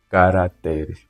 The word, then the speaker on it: caracteres: Existe sim esse termo sem acentuação, mas pronuncia-se sim, caracteres. Quando falamos de caracteres, está se tratar mesmo, ou estamos a nos referir ao teclado.